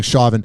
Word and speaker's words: Chauvin: I found out I've been saying it wrong, Chauvin.